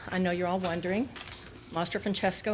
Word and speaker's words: Mastro-Francesco: And yes, I know you're all wondering, Mastro-Francesco is one word, it's Italian, and it's pronounced just like it's spelled.